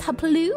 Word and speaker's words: Hapule: And Hapule, pronounced Hapaloo, Hapalooey. Hapaloo, Halloween.